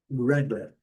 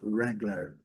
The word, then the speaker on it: Wrangler: Wrangler. Aqui tem uma curiosidade. A letra W não é pronunciada, mas nós precisamos de colocar esse U para esse U imaginário para fazer o Retroflexo, né?